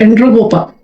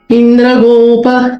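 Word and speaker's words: Indragopa: I don't know why they wrote it as a Endrogopa. E usually is pronounced as A. Like E elephant, egg. I don't know why they used E here. The right syllable is I.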